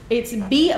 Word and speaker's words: Boepple: I can spell it for you if you want me to, but it's Boepple. So it's a German name.